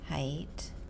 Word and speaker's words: height: another word um height height the GH is silent so I you know